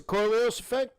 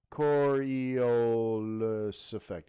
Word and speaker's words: Coriolis effect: sniper not know that i probably miss mispronouncing it and you're like what the hell is he talking about uh coriolis effect yeah so i'd mispronounce